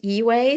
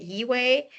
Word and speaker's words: Yi-Wei: I will take it from here, and my name is going to be pronounced Yi-Wei. So think of leeway as in give me some leeway and replace the L with a Y and you get Yi-Wei.